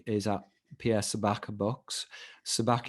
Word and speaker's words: Sabak: Sabak is spelled Sabak, so Pierre Sabacc Books.